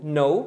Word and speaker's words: knew: O verbo saber ou conhecer é o verbo no, né? To know. No passado se pronuncia no, exatamente como você pronuncia novo, que também é no. Então o sabia você não pronuncia o K, é no e o novo é no.